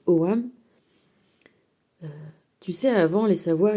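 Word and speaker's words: Ogham: donc ça sacritogam mais ça se prononce OAM tu sais avant les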